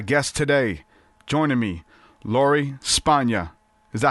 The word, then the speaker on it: Spanga: My guest today, joining me, Lori Spanga.